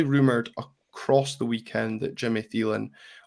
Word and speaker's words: Jimmy Thelin: across the weekend that Jimmy theen or yimy tan if you want to be one of those people that pronounce things properly um looking at anybody